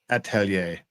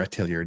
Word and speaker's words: atelier: It's Urza's art atelier or atelier, depending on where you're from or how you want to pronounce it.